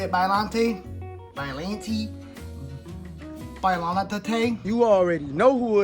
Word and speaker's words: Biollante: I call her Biollante. That's how it was pronounced in the game. That's how I say it. If you say it Biollante, Biollante.